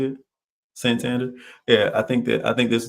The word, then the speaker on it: Santander: Santander.